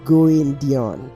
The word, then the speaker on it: Guendian: Greetings, my name is Guendian. I don't know how to pronounce that. It is pronounced Guendian. Oh, Guendian.